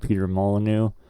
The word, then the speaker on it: Peter Molyneux: It's Peter Molyneux.